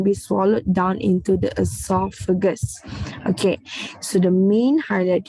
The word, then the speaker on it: oesophagus: Okay, it's actually a silent O. So you try like you say it with the E as the start, but actually it is spelled with the O at the start.